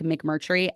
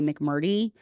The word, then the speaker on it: McMurtry: Having a name like McMurtry, everyone pronounces it different ways. Most oftentimes they say McMurdy. They leave the R out.